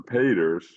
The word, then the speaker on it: Peeters: Anyway, we have four paintings by Cara Peters or Peters as the Dutch the Flemings pronounce her name.